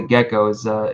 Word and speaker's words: Gecco: Yeah, it's called the Gecko, but it's spelled like Gecco instead of like a normal spelling.